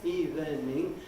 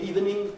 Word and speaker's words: evening: And even less noticeably, the word evening. It's amazing how many people think because it has 3 syllables in spelling, evening, that they're going to say 3 syllables. But it's practically non-existent amongst natural speakers of English. To say good evening, you immediately give yourself away as not a native speaker of English.